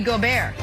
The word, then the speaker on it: Gobert: to note fun fact in french rudy gobert is pronounced rudy gobert nick who we got